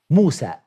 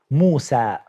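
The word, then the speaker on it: موسى: In Arabic, what is the correct way to pronounce that word? Musa.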